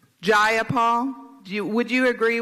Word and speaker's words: Jayapal: it was just jayapal if you're gonna say my name please say it right it's jayapal jayapal do you would you